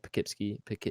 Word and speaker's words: Poughkeepsie: It's spelled very weirdly. It's like Pough. Yeah. Yeah, it's Poughkeepsie. Yeah.